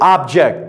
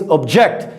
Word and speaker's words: object: Another one here, the noun. We pronounce it, like you guys say, object, things, right? Now, as a verb, it means to disagree. It means object.